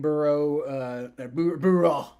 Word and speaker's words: Burrow: So, being from Louisiana, I do have an interest in seeing Burrow. That's how you pronounce that.